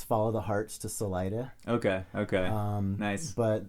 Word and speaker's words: Salida: you're from the uh the americans say salida salida salida okay okay but the uh it's like spanish would say salida with the bottom of the san luis valley and uh so if you're you know you get to the end so this is the exit okay okay gotcha but the locals say salida yeah yeah it's like